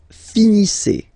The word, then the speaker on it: finissez: Vous finissez. Vous finissez. Okay, a Z at the end gives you the sound E.